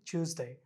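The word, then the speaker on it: Tuesday: আচ্ছা, টিউসডে, এটা হচ্ছে গিয়ে জ, জ, টুস, স, স উচ্চারণ হবে না, জ, একটু একটু ভারী করবে, জ, জ, টিউসডে, টিউসডে। স হবে না, জ হবে, স্মুথলি বের হবে, টিউসডে।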